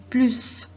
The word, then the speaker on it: plus: Dans ce cas, il est nécessaire de prononcer le S. Donc, on dit le plus.